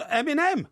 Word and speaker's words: Eminem: Well, of course, Eminem.